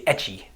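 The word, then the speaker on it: έχω: In Greek, you say echo, as I have. They say echi in Cyprus.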